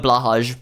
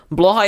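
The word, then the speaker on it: Blåhaj: And you know, and I call it blahage because that's what I'm used to. Blahigh is you know one way to call it I guess if you don't know any Swedish. Blha is the correct Swedish pronunciation and blah blah is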